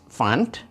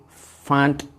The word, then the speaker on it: fund: contribute uh to this fund then i find uh make sure you that you pronounce the d f if you say fund as fun fun gambira fun fun fund fund okay so millions of investors